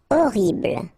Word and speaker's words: horrible: Horrible. Okay, first letter is H, but then we don't pronounce H, so you don't pronounce it, and the first thing you hear is O.